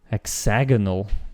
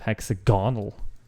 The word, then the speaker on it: hexagonal: as a betterment to hexagonal. Okay, instead of hexagonal. My emphasis was on the wrong syllable.